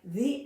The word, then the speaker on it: the: the apple fell from the tree. We, in our English language, we have made it a little bit lazy, so we'll say the, but it's really pronounced the, TH and a long E.